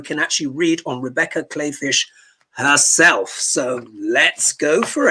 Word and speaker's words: Kleefisch: So it's spelled Kleefisch, but you say it Kleefisch, who according to Sacred Rhythms is a far-right evangelical up against Governor Tony Evers.